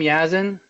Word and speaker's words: Yasmin: Yes, is that you pronounce your name, Yasmin? Yeah, that's how you pronounce my name.